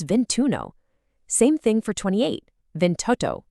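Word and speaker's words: ventuno: Instead of clunkily saying ventiuno for 21, that first vowel drops entirely to make it smoother. It becomes vintuno.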